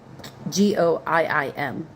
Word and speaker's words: Goiim: G o i i m. That's how I'm pronouncing it saying Goiim.